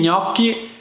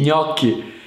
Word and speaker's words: gnocchi: preferito ecco questa cosa gli gnocchi è uno dei suoni più difficili per molti stranieri che imparando italiano perché gli gnocchi quindi tranquilli praticate con calma che riuscirete un giorno pronunciarlo senza problemi aiuto aiuto ho bisogno